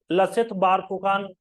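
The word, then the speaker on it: লাচিত বৰফুকন: मगर वो ध्यान रखना उनका नाम है लसित बोरफुकान लसित बकान ठीक है एक तो इ एसम में च होता है च का उच्चारण स होता है खिए सराई घाट ब्रज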